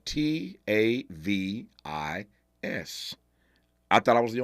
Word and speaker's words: Tavis: never interviewed anyone with a first name spelled t a v i s I thought I was the only one this brother pronounces his first name Tavis but this should